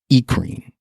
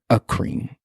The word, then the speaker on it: eccrine: called, I've heard this, eccrine. I've heard eccrine, I've heard acrine. There's acrine sweat glands, there's also apocrine or epicrine. I've heard it different ways, pronounced different ways.